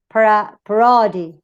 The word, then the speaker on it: parody: If both the second and third syllable are weak, ¿no? Supongamos que ni esta ni esta, the stress, of course, will fall on the initial syllable, the first syllable. Parody, monitor. No digo monita. O parody. It's parody.